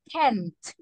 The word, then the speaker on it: can't: When you are talking about a negative sentences, you say can't. Listen okay. to the pronunciation. Is the T more? Yeah, you make an emphasis. And you say okay. can't. But when it is affirmative, you only say can.